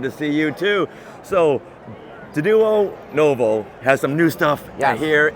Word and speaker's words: Denuo Novo: First, thank you for saying our company name right, Denuo Novo. We've been out for about 4 years now, and people are still getting the pronunciation down.